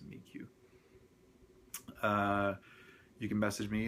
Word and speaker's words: Amiiqo: uh they have a support forum for the Amo uh or mq I still haven't really figured out how the pronunciation on that is but I like Amo but I'm sure it's pronounced amik uh you can message